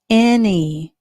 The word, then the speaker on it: any: In this word, the A has the a sound. A. N has the mm sound, and the Y has the E sound, okay?